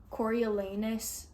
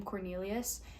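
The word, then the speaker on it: Coriolanus: young corilanus snow and if I see one more person pronounce his name Cornelius I'm literally going to throw something at them because that's not that's not how it's spelled and it's not how how it's pronounced so literally stop that's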